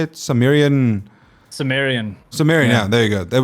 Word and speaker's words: Sumerian: Sumerian, yeah.